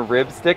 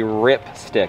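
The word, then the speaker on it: RipStik: wrong the entire time i've been saying rib stick and i couldn't figure out what rib had to do with anything it's a rip stick rip stick the ripstick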